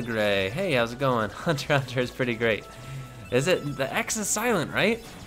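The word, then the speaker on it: Hunter × Hunter: Hunter x Hunter is pretty great. Is it? The X is silent, right?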